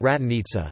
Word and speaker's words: Gračanica: Gračanica Monastery, pronounced Ratanica, Serbian, Manastir Gračanica, Manastir Gračanica, Albanian, Manastiri I Gračanicis, is a Serbian Orthodox monastery located in Kosovo.